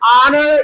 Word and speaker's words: honor: And honor, it is silent.